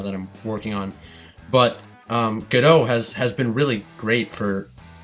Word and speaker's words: Godot: For those of you who don't know, there is a game engine called Godot, or Godot, which is not the correct pronunciation, but it's kind of more intuitive to say.